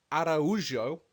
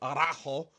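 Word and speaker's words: Araújo: Caitlin Chukagian wins a decision over Vivian Araujo, not Arajo. Very incorrect with that pronunciation.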